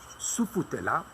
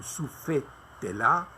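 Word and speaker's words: Sufetula: Et Patrice le Grégoire va essayer de la déplacer de Carthage à Soufoutéla ou Soufétéla. Il y a différentes prononciations, mais autres que Sbeitla.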